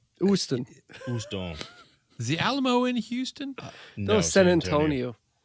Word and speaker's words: Houston: Is that with a silent H, or do you pronounce the H or not? Houston. Houston.